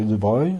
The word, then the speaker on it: de Broglie: Donc ça s'écrit de Broglie, mais c'est de Broglie, Bohm.